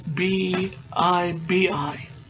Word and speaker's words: Bibi: And that's how they pronounce it. According to IMDb, it's B-I-B-I.